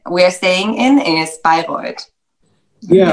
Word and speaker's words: Bayreuth: I think the pronunciation of your place is Bayreuth, right? Bayreuth? Yes, correct. Is it correct, or Bayreuth? Yeah, Bayreuth. Yeah, that's correct.